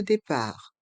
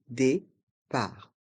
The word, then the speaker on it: départ: L'enregistrement de départ. L'enregistrement de départ. Le T de enregistrement est muet. Enregistrement. Et le T de départ est muet.